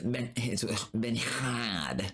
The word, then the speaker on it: Bernard: Actually, if you're in France, the world, it's Benhad. That's how they say it.